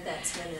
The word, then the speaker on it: Betzman: Betzman in our office. Did I say your last name right? You said it right. It's Betzman, but most people call me Dr.